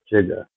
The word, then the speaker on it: Jigga: It says it's spelled Jiguuyh, Jigga, like Jay Z's song Jigga what, Jigga who.